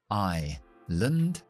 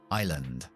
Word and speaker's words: island: Dos palabras importantes para recordar es no pronunciar la S ni en isla ni en pasillo. Isla es island, island.